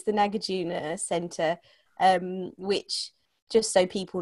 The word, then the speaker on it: Nagarjuna: They can be quite tricky to pronounce, yeah. It's the Nagarjuna Centre, which, just so people know, it's part